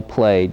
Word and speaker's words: plaid: is called a plaid it's spelled just like plaid but it's called the plate you have to distinguish